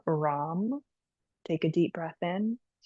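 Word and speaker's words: Ram: Rom is our chant. R as in radio. A M. Rom.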